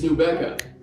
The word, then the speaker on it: New Becca: It's New Becca. Rhymes with Rebecca.